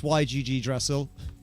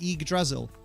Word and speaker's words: Yggdrasil: That's how you say it? What? Yggdrasil. The Y is just an I.